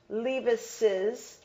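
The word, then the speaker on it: Leavis's: It's pronounced Levis's, and it is written Levis's this way.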